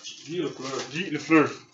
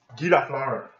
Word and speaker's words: Guy Lafleur: How do you pronounce it? Guy Lafleur. Guy Lafleur.